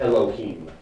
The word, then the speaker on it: Elohim: power if I may injection on Earth it's pronounced Elohim I'm sorry under that does that appear to